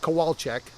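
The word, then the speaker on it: Kowalczyk: feel better uh but you pronounce that kowalek which probably most people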